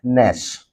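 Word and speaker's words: gnash: trying to analy this g n a s Nash g n a s Nash Nash means next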